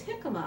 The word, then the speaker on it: jicama: I also like to use jicama on my salads.